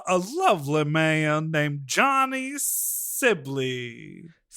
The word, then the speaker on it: Sibilly: Uh very exciting episode today with a a lovely man named Johnny Sibi. Sibi is how you pronounce it and you kept pronouncing it wrong the whole time.